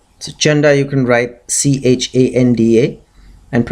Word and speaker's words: Chanda: Chanda and Munda so Chanda you can write c h a n d a and pronounce it Chanda you'll get the pronunciation and